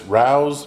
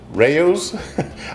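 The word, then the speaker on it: Rao's: use some of this Rous marinara I believe that's how you say it my wife says it Rayos I call it Rous but this is our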